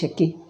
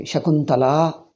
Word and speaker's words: Shakuntala: What is this Shaki? Shakila Shaku. Like Shaku and Shaki, something like that. So, you are supposed to pronounce the name completely. Shakuntala.